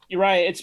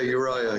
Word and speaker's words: Uriah: Uriah, it's pronounced. Am I pronouncing that correctly? Uriah. You are, yeah, Uriah.